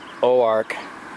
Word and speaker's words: Oark: I'm headed to what is pronounced Oark, Arkansas.